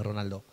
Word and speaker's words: Ronaldo: ¿Cómo se dice bien en portugués Ronaldo?